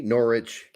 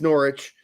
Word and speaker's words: Norwich: say I will say norch because our our our you know I'll say Norwich because our regulars know I'm kidding around but it is Norwich they don't Pronounce W anymore that's how it goes so um yeah we